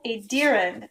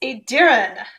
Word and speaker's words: Aedyran: Here we go, with an old Aedyran pie crust. I've been pronouncing it wrong, I realize this. It's Aedyran.